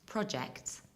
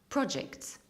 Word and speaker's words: project: In British accent, we have two possibilities. We can either say project with pro and e at the end, project. Or we can pronounce it like project with short e at the end, but still with short o at the beginning, project.